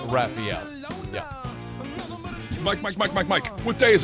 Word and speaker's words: Rafael: Muse, it is actually Raphael.